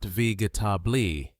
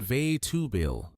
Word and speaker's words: vegetable: Notice how the middle sounds become shorter, almost like they disappear. That's a very common thing in English. We reduce vowels and skip sounds that are not stressed.